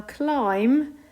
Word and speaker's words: climb: need to remember now climb doesn't have an e but it does have a silent b there's climb close that